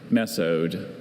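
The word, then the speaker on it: mesode: Uh, could you pronounce the word mezo? Miso. Meode.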